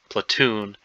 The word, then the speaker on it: platoon: about this where the which syllable is stressed platoon the second syllable is